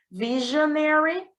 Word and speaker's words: Visionary: Visionary, e aqui uma atenção para o S com som de J, né?